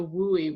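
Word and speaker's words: WUI: that is between or also known as the woolie which is like a weird acronym to pronounce doesn't sound totally normal but we is the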